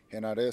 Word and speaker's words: Henare: Henare. So Henare. very, if you pronounce it like a Spanish person pronounces it, it's the Yeah. same.